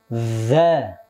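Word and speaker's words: ذ: ulangi tiga kali ya lihat dulu dza d d jadi harus ada itu sifatnya dza dza dza dza dza ya harus jelas jangan d d d enggak jelas huruf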